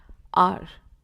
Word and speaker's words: hour: R. We spell it as HOUR, but we pronounce it as R, not हार.